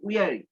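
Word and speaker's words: weary: উইয়ারি traveller, উইয়ারি এটার উচ্চারণ হচ্ছে উইয়ারি।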